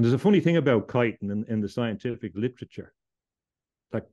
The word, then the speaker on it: chitin: Another fact is that this stuff contains chitin, or Chitin. It's pronounced different ways, but chitin, I think, is the best pronunciation.